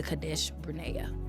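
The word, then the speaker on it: Kadesh Barnea: It takes 11 days, one to go from Herb to Cadesh Brena.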